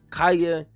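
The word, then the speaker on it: Kaya: And my wife, she told me how to say it, but yeah, Kaeya.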